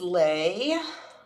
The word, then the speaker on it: Lei: Um, mom's name is Lei, which is the floral kind of necklace that um that Hawaiians wear or greet you with.